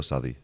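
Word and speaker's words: Southee: Southey or Southey?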